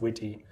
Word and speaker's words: Wt: an equally cutesy name WT is definitely pronounced witty so it's used as